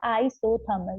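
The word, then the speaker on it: isothermal: Pronounce के लिए इन्होंने यहाँ पर लिखे लिखा है आइसोथर्मल। बहुत से बच्चे इसको मतलब सो थर्मल आई नहीं पढ़ते हैं, बहुत से लोगों का प्रोनाउंसिएशन थोड़ा सा अलग होता है, लेकिन ये जो है इसको प्रॉपरली हम लोग बोलते हैं आइसोथर्मल प्रोसेस।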